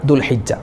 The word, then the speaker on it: ദുൽഹിജ്ജ: അതുപോലെ ചില ആളുകൾ ദുൽഹജ്ജ മാസം അതിന് വരുന്നത്, നമ്മൾക്ക് ഇനി ഹജ്ജിൻ്റെ മാസം ദുൽഹജ്ജ മാസമല്ലേ, ദുൽഹജ്ജ എന്ന് പറയാറുണ്ട്, അതുപോലെ ദുൽഹുജ്ജ എന്ന് പറയാറുണ്ട്. അതൊക്കെ തെറ്റാണ്. ദുൽഹിജ്ജ മാസം, ദുൽഖഅദ മാസം, ദുൽഹിജ്ജ മാസം, ദുൽഖഅദ മാസം, ദുൽഹിജ്ജ മാസം.